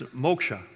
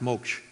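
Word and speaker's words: moksha: It's mosha. And sometimes the a is silence. Just pronounce moch. But for many it's moka. And what you're looking for is release.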